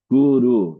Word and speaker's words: guru: was mispronouncing the refrain It is guru not told him go means cow. The spiritual master is not a cow.